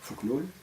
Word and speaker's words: Fokonolona: Et dans le domaine national, il mit surtout en pratique et en œuvre le Fokonolona, on prononce en malgache Fuknul, c'est-à-dire une collectivité traditionnelle